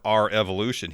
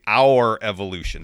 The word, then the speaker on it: R Evolution: Isn't it TakeOver Revolution? It's spelt R space capital E Evolution. I think it's supposed to be our evolution, the evolution of NXT.